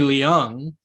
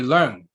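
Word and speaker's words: Leung: or cantonese but tony liang is like every entertainment journalist how they say his name is actually tony lung like there's almost like an r in his name like lauren his name is learn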